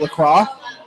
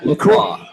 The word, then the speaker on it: Lacroix: Is it Lacroix? Close. Lacroix. Duke Lacroix.